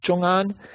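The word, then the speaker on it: ZhongAn: familiar with its zo h z'h o ngan pronounced johan and it's it's on that list for two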